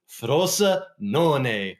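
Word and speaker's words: Frosinone: looking at the match up between Fiorentina and frosa non right Ian thosa correct and I have to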